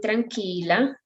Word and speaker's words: tranquila: And here in tranquila, remember that QUI always in Spanish works as key, okay?